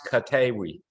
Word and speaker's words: Koteewi: video froze there for a second it's it's pronounced katewi okay yeah the the two e's making a